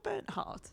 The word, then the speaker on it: Bernhard: Is it Sandra Bernhardt?